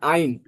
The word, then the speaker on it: Ein: আপু ইন না, আইন বলেন, আইন।